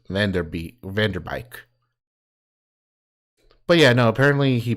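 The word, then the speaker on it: Van Der Beek: It's not Beek, it's Vanderbeek.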